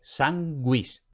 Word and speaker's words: sanguis: Ahora bien, podemos tener la secuencia G-U más otra vocal. En esa secuencia, al contrario que en español, se pronuncia la U. Entonces, por ejemplo, pingüe, sanguis.